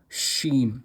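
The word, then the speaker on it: ش: This letter is pronounced as shen.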